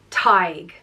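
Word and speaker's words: Tadhg: philosopher or Storyteller and it's pronounced TIG like tiger without the are TIG and there have been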